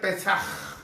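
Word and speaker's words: pesaj: primera vez la pascua la pascua el hebreo se pronuncia pesar quiere decir pasar que representa para nosotros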